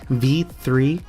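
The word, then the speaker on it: Ys VIII: Lacrimosa of Dana: Ease, V3, or 5.3, or 8. I know a lot of folks pronounce it differently, but it is V3.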